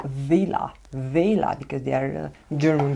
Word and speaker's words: Wella: Actually they are called Vela because they are a German brand. I'm not sure exactly how to say it, but in German W is spelled V, so Vela Tone by Vela.